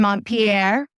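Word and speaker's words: Montpellier: for a night by train yeah and then mon Pier for three nights right with a train yeah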